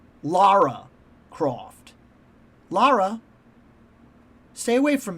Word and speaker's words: Lara: I've heard in the games, her mom calls her Lara. Lara Croft.